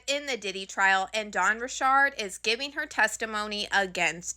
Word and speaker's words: Dawn Richard: And before we get into Dawn Richard's testimony, I have to show you guys how you actually pronounce her name, because if I get one